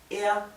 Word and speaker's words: er: Er liebt, recuerden que er, cuando la R está al final, se pronuncia de una forma casi imperceptible.